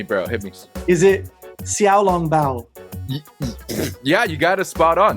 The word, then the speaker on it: xiaolongbao: and i want to ask you if i'm pronouncing it right yo hit me bro hit me is it xiaolongbao yeah you gotta spot on nice all right